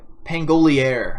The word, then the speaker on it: Pangolier: We have the Pangolier, I think is actually how it's pronounced, which is not how I pronounce it in my video.